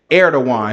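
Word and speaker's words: Erdoğan: He say his name is His name is Erdogan. That's how you say his name. Erdogan.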